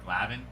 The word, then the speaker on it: Glavin: I think I've been saying his name wrong. I've been reading his name wrong this whole time, but I just realized the L comes before the A. Is it Glavin?